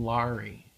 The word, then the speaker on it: Laurie: Laurie Laurie yeah and I pronounced my name Laurie yeah uh-huh but when